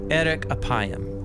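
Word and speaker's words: ארך אפים: In Hebrew, the phrase slow to anger is pronounced erek apayim, or literally long of nose.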